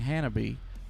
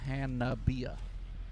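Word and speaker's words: Hanabie: of we were saying hanabe but we wish what we were saying but apparently it's hania it's four syllables no accents on any them just straight across so I'm I'm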